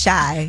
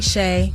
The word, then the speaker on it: Chey: yes hello what's up I love how on your page is c h e y and you like pronounce Shai yeah cuz a lot of people call me Shay now Maya was here